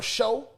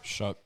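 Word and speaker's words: Shough: uh the Reaper, Tyler Show. Am I pronouncing that right? Shook.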